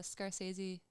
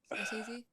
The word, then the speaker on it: Scorsese: So you said there's a Scorsese. Is that how you say it? Scorsese. Movie on your Yeah, that's gonna be Martin on. Scorsese.